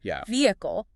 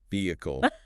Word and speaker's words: vehicle: That s is silent. So it's not viscount, right? It's v count. Ve count. Okay. Vehicle. Vehicle.